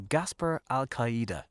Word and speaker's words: Gaspar Alcaide: So coming up on this week's podcast, we will be talking to Gaspar Alcaide.